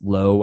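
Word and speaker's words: Lowe: that Tampa Bay has low and loud both spelled exactly the same but pronounced differently VR is 4600 Jose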